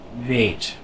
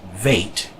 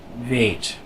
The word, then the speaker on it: weet: So if you are from my part of the country, you don't want to pronounce this weet. That's too much of an A. You want to go with the Dutch accent and pronounce it weet.